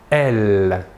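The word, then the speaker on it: elles: du pluriel est « elle ». Même chose que pour le masculin, la S finale ne se prononce pas.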